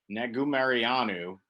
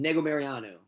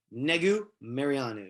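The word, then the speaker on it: Negumereanu: up we got nick negu mariano versus ike villanueva sorry nick i definitely butchered your last name nicolet and nego mariano mariano okay it's actually fun to say once you get it nego mariano marion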